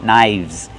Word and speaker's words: knives: Remember, one knife and two knives. The F changes to a VV V sound. Link to sounds. Knives.